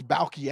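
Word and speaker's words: Baalke: Yeah, Trent Balky.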